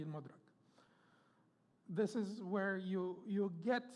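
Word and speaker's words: المدرك: Pronunciation is al-Mudrak. Most of the people say al-Madrak, but the people of, linguists say it should be al-Mudrak.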